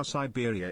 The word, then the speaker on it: Cyberia: Still think about your joke about how Siberia is pronounced like pizzeria and it makes me smile.